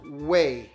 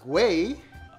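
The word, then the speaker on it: güey: you with this stick it's pronounced way not gay oh anyway this is pretty much another word for dude so like what up way um sure next word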